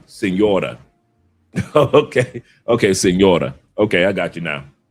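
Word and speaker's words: Señora: Sonora? I think I pronounced that Sonora correctly. He said I was late. He said I want like wait Sonora. I was like wait Sonora. Oh, okay, Senora.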